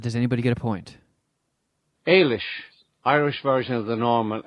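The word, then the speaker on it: Ailis: non-stupid guesses but does anybody get a point Alish Irish version of the normal Alice or Alicia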